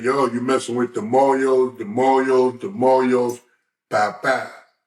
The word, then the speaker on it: mojo: I've never seen it written out, but in the pronunciation of being Hispanic, in the pronunciation, Moyo would be spelled M-O-J-O, like Mojo, but it's Moyo.